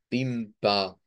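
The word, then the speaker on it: Wimper: y tendríamos entonces acá la palabra pimpa recordamos que esa es una a media más o menos en el español le tirarías a una a pero el sonido Es más no es como la a sino esta vendría siendo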